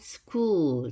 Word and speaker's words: school: 그러면 school 됩니다.